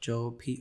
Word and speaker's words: Jobe: And we said Job with an E because people would think it was job, and the Bible pronounces it Job, so we put an E on that for that specific reason.